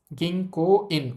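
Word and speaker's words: 銀行員: ও ধ্বনির পরে আবার উ আছে উচ্চারণ হবে না গিংকো ইন গিংকোন ওই কোটাকে একটু ট্রেনে বলব গিংকোন গিংকোন অর্থ হচ্ছে ব্যাংকের কর্মচারী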